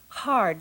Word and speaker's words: Hatha: I'm lilas folen and I welcome you to haa yoga class as you know Hatha Yoga is